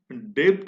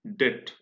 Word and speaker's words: debt: DEBT, लेकिन हम डेब्ट नहीं बोल रहे हैं इसको। इसका प्रोनाउंसिएशन डेब्ट नहीं है, इसका प्रोनाउंसिएशन क्या है? डेट।